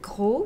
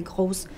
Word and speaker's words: gros: make that mistake because in English you pronounce the S's at the end of words, but in French you don't pronounce them unless you have a vowel.